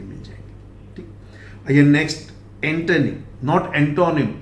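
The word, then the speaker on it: antonym: ठीक, आइए next, एंटोनिम, नॉट एंटोनिम। Pronunciation में ध्यान दीजिए, ये ओ इज not pronounced as O, this is स्वा यानी ए।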